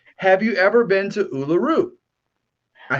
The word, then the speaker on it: Uluru: Have you ever been to Uluru?